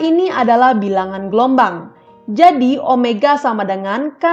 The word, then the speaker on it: omega: itu sama dengan Omega ini bacanya Omega Bukan weyya Dengan demikian persamaannya menjadi